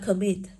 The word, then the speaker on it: commit: Chúng ta đọc từ đấy là commit. Thì âm đấy của cô được phát âm là ơ.